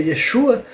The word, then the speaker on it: Yeshua: O primeiro nome que aparece, se eu não me engano, é Yesu, que supostamente a pronúncia do nome de Cristo na época era Yeshua, né?